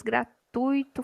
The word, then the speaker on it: gratuito: As palavras gratuito, fortuito, circuito têm tonicidade no i?